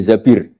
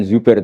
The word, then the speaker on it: Zabir: Kemudian saya nikah sama Abdurrahman bin Zabir. Di hadis ini bukan bacanya bukan Zubair tapi Zabir. Abdurrahman bin Zabir.